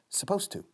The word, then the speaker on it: supposed to: He was, muy bien, supposed to. La ed de supposed se come por completo.